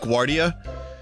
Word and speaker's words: Guardia: I So if I if I call it Guardia, it's because that's just how I always said it.